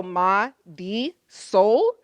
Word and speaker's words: Marisol: If that's difficult, a little trick, if you pronounce the R like a D, you get closer to rolling the R. So Ma, D, Sol is closer than Marisol.